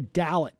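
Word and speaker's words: Dallet: County Circuit Judge Rebecca dalit I believe is how her name is pronounced won a seat on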